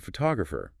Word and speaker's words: photographer: But when we talk about photographer, the person who takes the picture, the stress shifts to the second syllable, photographer, right?